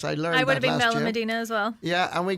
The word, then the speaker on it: Benalmádena: We went to Spain last October to Benalmádena, or Benalmádena is how I pronounce it. I think, or I believe the Spanish way is Benalmádena. Right. Yes, I learned that last year. I would have been Benalmádena as well.